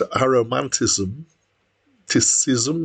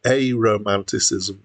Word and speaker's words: Aromanticism: the title um so when I first saw the title I thought it was probably pronounced a romantism cism or something like that um it probably should be pronounced a Romanticism and that's um uh